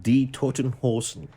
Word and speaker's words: Die Toten Hosen: Die Toten Hosen.